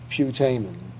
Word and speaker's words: putamen: And so if you click on the little speaker icon, he will say putamen. That's a correct alternative pronunciation.